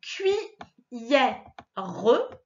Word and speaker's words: cuillère: Et enfin, cuillère. C'est au milieu qu'on l'entend. Ça fait cui et au milieu, yère.